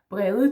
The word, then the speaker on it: brede: Brede, this is a normal D, if you could say that. That is the one that you recognize from so many other languages. The one that you also have in Denmark.